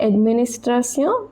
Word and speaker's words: administration: Définition, TION pronounced as sion. Définition d'une administration. Remember, it is not administration, it is administration.